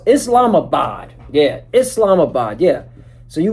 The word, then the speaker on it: Islamabad: It's Islamabad.